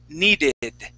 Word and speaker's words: needed: Okay, now that last D, your tongue is touching the back of your teeth. You want to pull that tongue back so you can hit the top of your mouth.